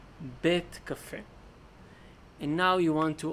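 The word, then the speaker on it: בית קפה: House Cafe coffee but you don't say bite Cafe you say bet Cafe and now you want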